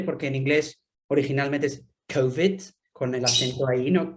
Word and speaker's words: COVID: He de reconocer que yo el término COVID con el acento en la segunda solo se lo he escuchado a Francisco, no estoy insinuando nada, pero no es muy común oír COVID, no, siempre COVID. Entonces me pregunto si esto